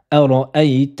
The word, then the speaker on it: أرأيت: Ça donne أرأيت الذي ينهى عبدا إذا صلى. On commence avec les premiers mots, le verset numéro 9. أرأيت أرأيت أي, prononcez-la de façon douce.